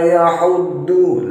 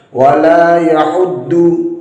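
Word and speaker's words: يَحُضُّ: Nah, huruf dhad ini harusnya dibaca dhad, tidak boleh diganti dengan huruf dal. Wala yahuddu, wala yahuddu, tidak boleh. Bagaimana yang tepat? Makhraj dari huruf dhad ialah sisi lidah, boleh sisi lidah yang kanan, boleh sisi lidah yang kiri ditempelkan pada gigi geraham yang bagian atas, boleh geraham kanan, boleh geraham kiri.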